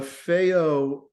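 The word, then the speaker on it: Fayol: um Okay so formalization feo last time I mispronounced his name Liz class but I looked it up uh feo uh was a French um was a French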